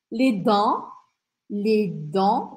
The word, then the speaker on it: les dents: Les dents, os dentes. Les dents não é para falar o T aqui.